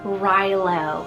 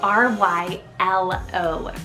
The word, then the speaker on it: Rylo: of going crazy over over is the name rylo spelled r-y-l-o rylo just like in my girls list you